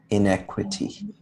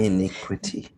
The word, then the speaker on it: iniquity: From there, honey, can you pronounce this one? Callous. Callous. 해보실래요? Yeah. From their callous hearts comes inequity. Inequity. Yeah. Iniquity.